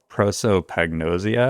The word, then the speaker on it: prosopagnosia: A great example is that my wife and my son both, I'm going to absolutely mispronounce this word, but they have a condition called prosopagnosia, I think is the...